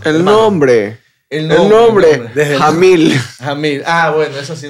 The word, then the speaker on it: Jamil: que se en las redes sociales es pronunciar pronunciar bien el apellido el nombre el nombre nombre jamil jamil Ah bueno esa sí no me la